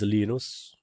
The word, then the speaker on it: Linus: His name is Linus. So that's how you pronounce Linux, right?